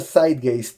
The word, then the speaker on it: zeitgeist: posiblemente vives está ok en principio se pronuncia zeitgeist es una frase me parece alemana qué quiere decir el